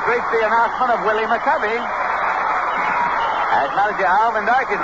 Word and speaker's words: McCovey: All during his minor league career, this fellow was called McCovey. That's the way he pronounced it, McCovey. And when he got to the major leagues with the Giants, everybody called him McCovey, so he said, all right.